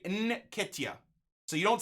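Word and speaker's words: Nketiah: Nikitia. So you don't say N, you go N. Nikitia.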